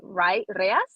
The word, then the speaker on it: reais: I think you pronounce it reais, something like the Brazilian currency, is astronomical.